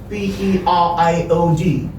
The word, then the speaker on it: period: Now, this one, P-E-R-I-O-D.